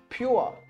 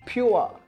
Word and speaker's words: pure: The fourth trigraph is U-R-E, which pronounces you-a, you-a, you-a. This one's a tricky one. For example, we have pure, p, you are, pure.